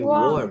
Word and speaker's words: warm: The next guys, it's bacanya jangan pakai a ya, bukan warm tapi warm.